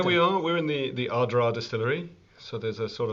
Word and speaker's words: Ardara: Where we are and your So where we are, we're in the Ardara Distillery. So there's a sort of half an A in the middle of it. I think most people would say Ardara, but it's Ardara.